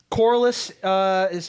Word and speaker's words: Corlys: I mean, because like Corlys that's how you pronounce Corlys Velaryon, yeah.